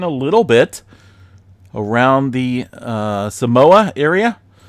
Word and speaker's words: Samoa: Yeah, Samoa or Samoa. A couple different pronunciations there. I've even in school, I was told Samoa, but a lot of the locals in the original traditional name Samoa there seen a 6.7 earthquake.